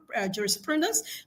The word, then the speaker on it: jurisprudence: We have the stress on pro where you have juris jurisprudence the stress is on pro because jurisprudence is taken from a Latin word jurisprudent then brought into English.